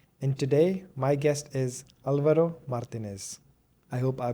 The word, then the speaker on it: Álvaro Martínez: I'm your host, and today my guest is Alvaro Martinez. I hope I pronounced your name correctly, Alvaro.